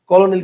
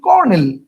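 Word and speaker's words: colonel: তিনটা কিন্তু আসলে কলোনিল বানানটা কি ভাওয়েল তিনটা কলোনেল কি উচ্চারণ করলে তিনটা ভাওয়েল আসে উত্তর হচ্ছে না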